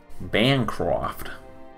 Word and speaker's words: Bancroft: but then again you're also British what who pronounces it wrong Bancroft okay so what I'm going to do now